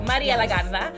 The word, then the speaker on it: Maria Legarda: And today, I have the pleasure of having Miss Maria Legarda. That's how you have to say her name. When you say her name, you have to roll the R. Maria Legarda.